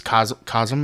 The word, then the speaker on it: Cosm: This Cosm. Am I saying it right? Yep.